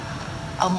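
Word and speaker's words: aux: À với lê thì ta gom lại thành ô, viết A-U-X. Nhưng ta đọc là ô thôi, ta không đọc là chữ xì ở đây.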